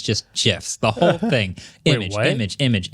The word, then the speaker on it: GIF: I'm I'm not gonna I've always been a gif person it's okay to be wrong it's not drafted because my phone trivia question over and over again I think the Creator tell me why pronounces it like that but he was wrong tell me why though like why is it Jeff I don't know why it just is because because of what